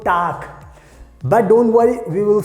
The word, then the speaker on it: Tag: So this is, you have to keep in mind, and just keep in mind this G will be pronounced like a K, so Tag.